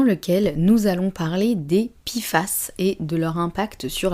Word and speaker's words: PFAS: tout ce que c'est donc les pifas ça s'écrit PF a S et c'est un acronyme on peut dire ça